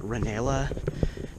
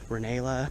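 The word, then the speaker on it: Rinella: And one of them is, I'm hoping I'm pronouncing the name right, but Reanella, uh, it's like R I N E L L A Reala. Reelia, maybe.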